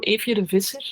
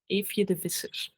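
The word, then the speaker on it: Eefje de Visser: Evje de Visser. Also really. Can you spell that for me? It's a EEFJE. Okay. Evje, and then DE, and then like Fisher, but in Dutch it's V Iser.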